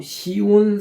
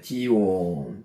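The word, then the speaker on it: ציון: 그래서 아 다윗이 정복하고 시온 산성이라고 이름을 명했다라고 사무엘아 5장 7절에에 성경은 말씀하고 있습니다. 시온 시온 우리가 시온도 너무나 많이 아 잘 들어서 알고 있죠. 원래 발음은 지온입니다. 지온 지온 한번 적어 볼까요?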